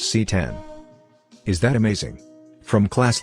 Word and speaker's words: CX: the LG CX pronounced C10 is that amazing from